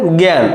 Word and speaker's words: জ্ঞান: চন্দ্রবিন্দর অথবা গয় জফালা দেখো এখানে জ্ঞান তাহলে গয় জফলা চন্দ্রবিন্দর আকার দন্তান্য জ্ঞান তারপরে জ্ঞাতি তাহলে দেখ